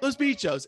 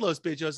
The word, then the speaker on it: Los Bitchos: I was like, Los Bitchos, and then people have said Los Bitchos, and I was like, I don't think that it's the way you say it, you know? Oh, we say Los Bitchos, but I mean, completely up to you.